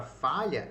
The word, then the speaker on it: falha: O L e o H são duas letras que fazem um único fonema. Então a palavra falha, ela possui 5 letras, certo? F, A, L, H, 5 letras. Mas ela possui apenas 4 fonemas, porque o LH já atua como um dígrafo. Então ele faz um único som.